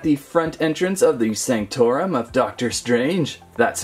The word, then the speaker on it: Sanctorum: Well, anyhow, this set is packed with a million features, so right now we're looking at the front entrance of the Sanctorum of Doctor Strange.